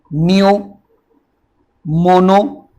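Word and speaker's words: pneumono: जैसे पहले देखो, नियो, मोनो, नियो, ये पी साइलेंट है, NEU नियो, मोनो हो गया, अल्ट्रा हो गया, माइक्रोस्कोपिक, सिलिको, वोल्केनो, कैनोसिस।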